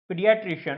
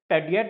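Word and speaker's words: pediatrician: पीडियाट्रिशियन, अच्छा इसमें बोलना कैसे है दोस्तों? ये पेडियट लगेगा आपको पी ए ई की वजह से, पर पेडियट नहीं होता, पीडियाट्रिशियन होता है।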